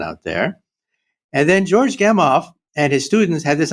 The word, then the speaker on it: Gamow: a name, and I don't know how to pronounce this last name. Is it George Gamow, Gamow? Gamow, right?